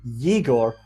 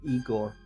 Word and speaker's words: Yegor: And also to Yegor Ogorodnikov. There's no clue, though, that it's a Yegor instead of Igor.